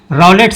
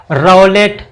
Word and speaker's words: Rowlatt: रॉलेट, कहीं कहीं पे आपको देखिए शब्द उसमें भ्रम न पड़िएगा, रॉलेट, रालेट, ये सभी शब्द आपको मिलेंगे अलग अलग पुस्तकों में, उच्चारण का अंतर है। और मेरे हिसाब से जो सही शब्द है वो रॉलेट है, तो वही शब्द मैं लिख रहा हूँ।